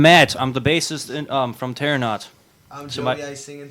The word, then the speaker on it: Terranaut: So tonight we are here with, and I hope I'm pronouncing this right, Terranaut?